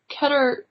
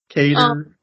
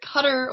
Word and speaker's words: Qatar: With Qatar? What's the proper way to say it? Both are. All of them. Just keep saying it. Cater. Okay, well I know that's not right. I know it's either Qatar or Qatar.